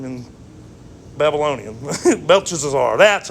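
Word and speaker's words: Belteshazzar: chesazar that one that's Daniel's name and Babylonian belches are that's how you say it that's a lot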